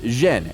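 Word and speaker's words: 甄: In the Beijing dialect, his surname is pronounced Zhen, and Yen is the Cantonese pronunciation.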